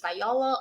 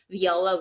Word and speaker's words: viola: Essa palavra tem duas pronúncias, viola ou viola really well.